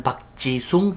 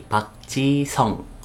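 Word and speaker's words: 박지성: Seperti bukan Park Ji-sung tapi Park Ji-song.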